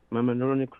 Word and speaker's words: Mamaroneck: - Am I pronouncing that right? Mama, Mamaroneck? - Yeah. - Ma-mamaroneck? - Mamaroneck Road.